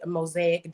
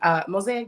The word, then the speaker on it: MOSAIQ: And my brand, Mosaic Design, spelled with a Q. So that's MOSAIQ. Mosaic Design and all of